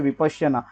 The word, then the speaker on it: विपश्यना: उससे पहले आपको ये बता दूं कि ये जो वर्ड है विपश्यना, इसको संस्कृत में विपश्यना कहा जाता है और पाली में विपस्सना कहा जाता है। मैं पाली तो बहुत अच्छे से प्रोनाउंस नहीं कर पाऊंगा, फिर भी आपको इतना बता सकता हूँ कि विपस्सना ऐसा कहा जाता है और संस्कृत में इसको विपश्यना ऐसा कहा जाता है। तो हम इसको विपश्यना ये प्रोनाउंस करेंगे यहाँ पे।